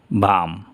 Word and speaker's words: balm: এখানে আছে এল এর পরে এম, বাওয়াল নেই, তাহলে উচ্চারণ এল হবে না, ক্যাম, অসুস্থতা বোধ। VALM, ভাম, অর্থ হলো সুবাসিত মলম।